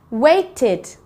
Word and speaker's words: waited: Waited. Waited. It's the id sound at the end.